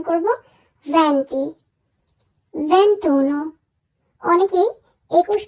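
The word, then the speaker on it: venti: না হবে চিচত্ব দিচান ভ্যান্তি আমরা অনেক সময় উচ্চারণ করে থাকি ভেন্তি এটি আসলে ভুল উচ্চারণ আমরা উচ্চারণ করবো ভ্যান্তি ভেন্তুনো অনেকেই 21 কে উচ্চারণ করে ভেন্তিউনো আসলে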